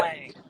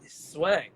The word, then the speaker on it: Zwang: That after 12 years, you still say my last name wrong. Zwang. Yeah, Zwang. there you go. That's great. I think it's because, did I add an S in there at one point or something? Yeah, Swang, Zwang for a while.